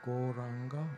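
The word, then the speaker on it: Gauranga: to add the mantra goranga into our practice goranga has four syllables so these wonderful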